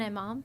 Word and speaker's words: imam: An imam.